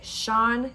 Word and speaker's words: Sian: she started it by Sean Gilbert that is how you pronounce it I Googled it uh